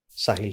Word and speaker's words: साहिल: मैं नॉर्मली लिखता हूं, पर अगर मैंने SAAHIL लिख दिया तो प्रोनाउंसिएशन में अभी भी क्या आएगा? साहिल ही साहिल आएगा, है ना?